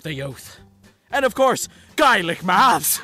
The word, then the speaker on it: Gaelic: And of course, Gaelic maths! No one cares about your garlic math, you piece of shit! It's pronounced Gaelic, you unprecedented piece garlic of shite.